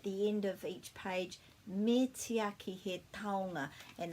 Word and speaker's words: me tiaki: It's quite easy to say, me tiaki, me tiaki, me tiaki. And it's kind of pronounced like this, me tiaki.